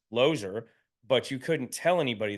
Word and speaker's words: Losier: certificate to this day my last name says l o e r it's loser loser and so uh my parents say and my grandparents say that it was always pronounced ler but you couldn't tell